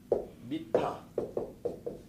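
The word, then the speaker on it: מִטָּה: 히브리서의 침상은 미타라고 발음해요. 근데 히브리서 침상은 미타인데 히브리어로 침상을 미타라고 하는데 히브리어로 그럼 지팡이 같아야 되니까 지팡이 또 뭐라 하냐? 마테라고 해요. 이렇게 모음만 다르죠.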